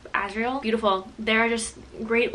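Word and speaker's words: Azriel: you say it Cassian and asriel like Ariel the mermaid asriel beautiful there are just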